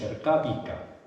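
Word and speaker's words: Ercávica: Nosotros hoy pronunciamos ercábica y pronunciamos ercábica porque en la evolución fonética del latín eh la voz ercáica eh deriva inexpusablemente en en la V.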